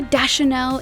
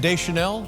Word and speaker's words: Deschanel: get the hang of it so no more da chanel if the fans can help it uh and deschanel it's french yes emily radakowski born in london